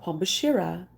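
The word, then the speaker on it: Pombagira: I missed one what do you know about pom bashira well for one I know that's how her name is pronounced and I also know she also has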